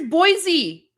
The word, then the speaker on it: Boise: Guys, here's Boise. This one's Boise. Boise, Idaho. You guys helped me with the pronunciation for this one.